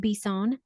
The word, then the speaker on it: Bisson: This week's guest is Steve Bisson. Did I say it correctly? I love it. I love it. Okay, cool. Because it is French and I make sure I want to say it correctly.